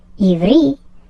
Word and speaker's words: Ivri: Ivri is how you pronounce Hebrew in Hebrew, but in Hebrew there is no mention that they speak Hebrew.